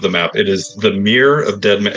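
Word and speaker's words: Mere: What what is what is a a meer mirror? What is it? Yeah. So, this is a place on the Sword Coast that I pulled off of the map. It is the Mirror of Dead Man.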